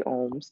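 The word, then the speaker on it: Aum: The sound ohm is spelled A-U-M, so it kind of starts as if you're at a dentist saying, ah, and then the sound transforms into the O sound.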